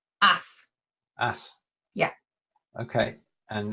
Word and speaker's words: Ass: And finally, only because I've got the translation below, is ass. It's not an English word. It's an English word. Would mean donkey or something It's else. not. It's the ace. Is the pronunciation correct? Ass.